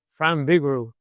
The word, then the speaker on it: Frank Vigoroux: But need to make sure that I get the correct pronunciation of your name. So could uh, give that to me here. And Frank Bigo. Thanks. Frank Vigaro.